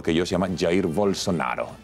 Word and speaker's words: Bolsonaro: ¿Cómo se pronuncia, por favor? Bolsonaro.